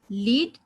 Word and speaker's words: lead: LEAD noun में भी है और LEAD वर्ब में भी है, लेकिन इसका जो प्रोनाउंसिएशन है लीड एंड लेड, इसको बोलेंगे लेड अगर नाउन है तो, और वर्ब है तो लीड, यानी लीडरशिप.